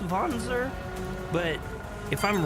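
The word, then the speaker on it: Wanzer: So, we should be able to collect his mech or his Vonser. I'm sorry. I I keep messing that up. And again, I'm pretty sure it's pronounced Vonzer, but if I'm wrong, I let me know cuz I I'm new.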